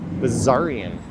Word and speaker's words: Bessarion: Bessarion Station. I think the S is actually pronounced more like a Z. Bessarion.